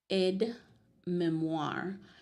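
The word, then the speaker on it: aide-mémoire: to we're going to learn today is called Ed Memoir so it's a French word okay so it's spelled a i d e hyphen m e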